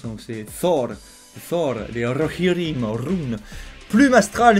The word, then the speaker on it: Thor: Alors le TH, faut pas oublier que ça se prononce. Donc c'est Thor, les Rohirrim, Rhûn.